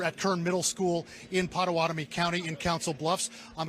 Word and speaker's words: Potawatomi: How do you say it? Pottawatomie? You got it.